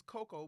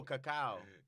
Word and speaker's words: cacao: It's cocoa, but Who- is that how you pronounce it? Mm. C8. Coca? Yeah. Cocoa. Coca? That. That. Cacao. That. Cacao? Oh, cacao. C-A-C-A-O.